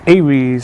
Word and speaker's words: Aries: Sorry, A R I S I guess it's pronounced as A. So allow me to check and double confirm Aries. Yep. Some Google is pronounced as Aries.